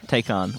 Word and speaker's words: Taycan: How do you pronounce it? Taycan.